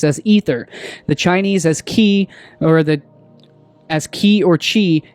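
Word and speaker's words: χ: force and of course ki is also the 22nd letter of the uh ancient Greek alphabet pronounced as as key and it literally means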